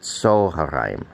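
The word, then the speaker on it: צהריים: All right, often when you have the kamatz under the first letter, it sometimes takes the sound O instead of O or A. Okay, so it's not Tzoharayim, it's pronounced Tzoharayim.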